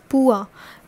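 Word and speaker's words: pois: e t i t s and it is pronounced as patit and this is what pua p o i s next is also in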